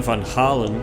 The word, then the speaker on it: Van Halen: and Yan Van Holland, as it was originally pronounced, thus decided to move to America with their two sons, setting sail at the end of February 1962.